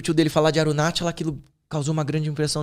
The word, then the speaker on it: Arunachala: essa montanha que lugar bonito como que é arunachala arunachala se escreve com ch arunachala Esse é o lugar